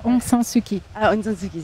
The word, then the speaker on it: Aung San Suu Kyi: C'est pas Aung Suu Kyi ou Aung Suu Kyi. C'est presque ça, Aung San Suu Kyi.